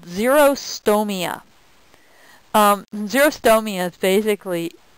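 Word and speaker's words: xerostomia: common side effect of an antihistamine is called zerostoia. Um zerostoia is basically it's it's spelled x e r o s t o m i a.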